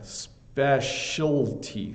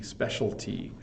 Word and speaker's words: specialty: librarian um specialty yeah Peter you got to get the L in there specialty specialty um but that's a